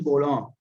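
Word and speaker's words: Bourdon: ये एक साहब हैं यूजीन बोलॉन, ये फ्रेंच प्रोनाउंसिएशन है।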